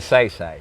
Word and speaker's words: Magsaysay: Magsaysay. Am I saying it right? Magsaysay, yes.